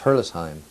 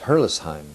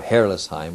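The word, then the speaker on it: Herrlisheim: town near it called hurlis the the actual pronunciation of the word hurlis it's hurlisheim i never knew that until we went back to to france a year ago but but the pronunciation is hurlessheim or hairless heim or whatever but not hurtless shine as most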